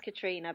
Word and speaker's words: Katriona: human race till next time we have today Catriona Chapman I've said that right ever now that's how it's spelled it's pronounced Katrina but don't worry because absolutely even simple names